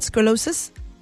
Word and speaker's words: scoliosis: Scoliosis?